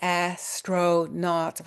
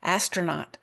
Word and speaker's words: astronaut: Astronaut actually with a schwah in the second syllable. We don't say astronaut, we say astronaut when we speak.